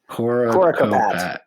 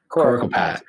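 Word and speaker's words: Coricopat: Coracopat. Coracopat.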